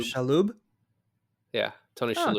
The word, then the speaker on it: Shalhoub: Um, Yeah, when Tony how do you pronounce his last name? Shalhoub.